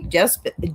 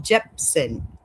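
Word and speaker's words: Jepsen: So, Carly Ray Gp Jeepson, there I said it right.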